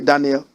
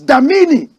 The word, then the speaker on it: Damini: Did you just hear me say Daniel? But it is Damini Ebunoluwa Ogulu.